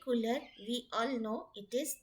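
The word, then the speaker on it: couleurs: e u r s cooler s is silent like cooler we all know it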